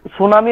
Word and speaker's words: সুনামি: ঠিক আছে তাহলে এখানে সুনামি হবে সুনামিটাও হবে হ্যাঁ সুনামি সুনামিটা টি দিয়ে শুরু হচ্ছে হ্যাঁ সুনামিটা টি দিয়ে শুরু হচ্ছে টি টা সাইলেন্ট হয়ে যায় ঠিক গুড তো এইখানে